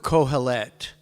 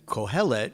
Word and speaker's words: Kohelet: And Kohelet, normally a three-syllable word, normally would, like Avraham, would always be on the third syllable in Hebrew, except when it's a segolate, like the word for kingdom, mamlechet. Anyway, so I like cringed when I heard that.